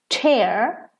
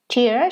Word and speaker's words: tear: that have two pronunciations the word tear tear when you tear a piece of paper and throw it away in the trash and tear tear she's crying and tears are her